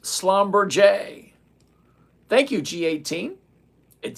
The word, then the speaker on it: Schlumberger: It's pronounced Schlumberger.